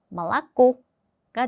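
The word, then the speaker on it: молоко: 첫 번째 규칙은 알파벳 5는 강세가 없으면 아 발음이 납니다. 자, 예를 들어서 말라고 말라고 쓸 때는 모로꼬라고 쓰지만 강세가이 마지막 오 몸에 있기 때문에 말라꼬가 됩니다.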